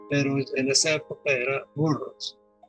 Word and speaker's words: Burroughs: Se escribe Burroughs, pues se pronuncia Burroughs.